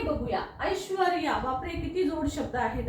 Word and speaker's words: ऐश्वर्या: तेव्हा उच्चाराला महत्व आहे उच्चार बघा र कुठे येतो ऐश्वर रया ऐश्वर र या ऐश्वर्या म्हणजे श्व झाल्याच्या नंतर हा र येतो म्हणून आपल्याला इथे र लिहायचा